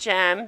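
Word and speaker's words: Cem: So we see her husband, it's pronounced Jem, C-E-M, Jem, and she's explained, well, his job requires him to travel to Kazakhstan every 2 weeks, and she gets lonely.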